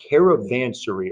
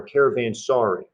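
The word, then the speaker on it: caravanserai: this word right here caravansary or caravan sorry caravan sorry yeah i've heard both uh caravansary caravan sorry however you want to pronounce pronounce it is okay these are hotels that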